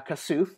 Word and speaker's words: Kasuf: You are playing a legacy character of, and I'll just go back to the normal name now, Kasuf, the very basic American pronunciation.